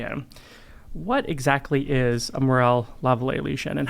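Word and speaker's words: Morel-Lavallée: I think the French is Lavallee, but we call them Morel-Lavallee lesions. Okay, all right. So I've got the American pronunciation down.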